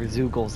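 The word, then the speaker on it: Zeugles: like to stick their zoogles on us rhymes with moogles just like everyone else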